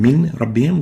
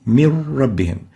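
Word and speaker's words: من ربهم: So instead of saying min rabbihim, the nun would be totally merged into the ra. And that will make the nun disappear. So instead of saying min rabbihim, we'll say mir rabbihim. No nun would be pronounced, only a ra, and the ra will be like duplicate ra. It has shadda. Mir rabbihim instead of min rabbihim.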